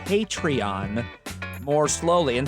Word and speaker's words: Patreon: Consider saying Patreon more slowly and spell it out, Patreon. If you're going to make the ask, then make the call to action easy. Winky face," she wrote. I thought it was Patreon, P-A-Y. But no matches on the Google machine.